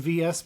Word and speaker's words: VS: v period vs and VSS period so I understand where the confusion comes from and why people call it versus but I do think it's actually vs and the reason is